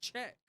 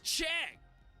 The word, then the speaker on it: Czech: It's It's pronounced Czech. See, that would make more sense. Hold on. Wait. Pronunciation. Wait. Come on. Check. It's pronounced check.